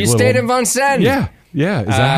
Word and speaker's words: Vincennes: There was this like you little, stayed in Vincennes.